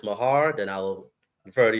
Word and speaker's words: Meagher: I don't care because everyone pronounces it wrong but my name is actually uh Mahar Mahar okay God yeah